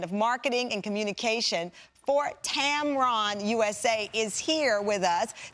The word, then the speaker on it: Tamron: is shared with a camera lens company it's pronounced tam ron and the spelling is exactly the same as